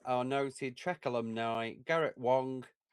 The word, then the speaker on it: Wang: And in new roles are noted Trek alumni, Garrett Wang, rhymes with slang, as not an ensign.